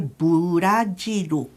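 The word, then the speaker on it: ブラジル: rd porta welide filme vamos ver um exemplo brasil as sílabas de brasil em português são duas brasil mas em japonês vai ficar o burajiru 4 sílabas e geralmente nesses casos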